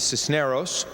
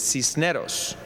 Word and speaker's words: Cisneros: pronounce my name correctly my name is cisos pronounced with a Spanish accent it is cnos but I promise you